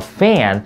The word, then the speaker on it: fan: 이 A 발음에서 이 A 발음은요, 좀 더 길게 늘려드려야 돼요. A. 그냥 fan 짜게 쓰는 게 아니고요. Fan. 그렇죠. Fan. 거의 A로 발음하는 거.